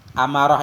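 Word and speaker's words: أمارة: Bi fathil hamzati, amarah ini bacanya dengan fathah hamzah, jam'u amaratin, jamak dari amaratin, amaratin, amaratani, amaratin, jamak muannas.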